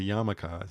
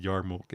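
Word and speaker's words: yarmulke: the Super Chat and she called it a Yara Mulk because that's how it's spelled it's spelled y-r-m-u-l-k or m-u-l-k-e whatever and she didn't know that was a yamaka she said yarmuk and people gave her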